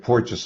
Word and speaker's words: Porges: Am I pronouncing that right? Polyvagal? yeah, that's fine. And Porges is correct as well.